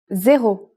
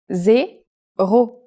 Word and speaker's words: zéro: It's the same as in English, but with a different pronunciation. Zéro. Zéro.